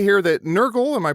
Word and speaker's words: Nurgle: if I'm wrong, it does say here that Nurgle, am I pronouncing that right, Nurgle?